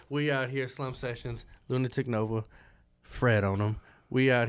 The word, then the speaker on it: Lunitik Novae: And it's Lunitik Nova. It's That's a silent E at the end of Nova. The E is silent because there's a lot of Novas, but I'm the only one that shines like this.